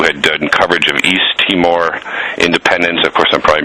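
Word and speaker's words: Timor: I know you had done coverage of East teamour Independence of course I'm probably mispronouncing that no you got it right East teamour Independent movement Chevron corporations uh corruption and and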